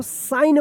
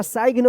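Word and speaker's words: sign: तो देखिए एस आई जी एन तो एन से पहले जी है। तो क्या होगा कि ये जी जो है ना साइलेंट रहेगा। क्या पढ़ेंगे इसको? साइन पढ़ेंगे इसको। सिग्न या साइग्न मत पढ़िएगा।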